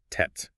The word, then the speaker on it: Z: And Lisa explained that it's pronounced tet, just like the tet sound in cats.